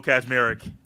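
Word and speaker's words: Kaczmarek: Kazmarek. And there is not a Z right there. It's K-A-C, but it's Kaz.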